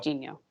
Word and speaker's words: Genio: The pronunciation shows Jeenyooh. Okay, so, Genio.